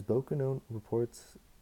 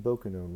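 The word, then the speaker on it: Bokonon: How he came by the name Bokennon was very simple. Bokennon was a pronunciation given the name Johnson in the English dialect.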